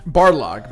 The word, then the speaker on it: Barlog: Maybe getting like Cory Balrog up there to, did I say his name correctly? Yes. Okay, making sure. Cory Barlog. Balrog is from Street Fighter.